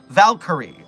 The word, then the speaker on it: Valkyrie: Three syllables. Valkyrie.